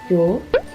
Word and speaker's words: 요: The last block, 요. These letters are made up of 1 consonant and 1 vowel, and the consonant here actually just came for the placeholder. It doesn't produce any sound.